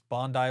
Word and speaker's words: Bondi: episode of currently ink I called this Bondi blue of course I was pronounced it's Bondi blue named after Bondi Beach in Australia pronunciation people are still